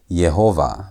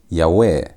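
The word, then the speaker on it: יהוה: Now, there are some that read this word as Yhovah. But that reading is not supported in biblical Hebrew. The reading that is supported by most scholars is Yahweh.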